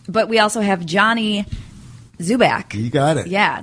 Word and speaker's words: Dzubak: But we also have Johnny Dzubak. You got it. Yeah. There's a D in the front, so I don't want to pronounce the D. It's silent.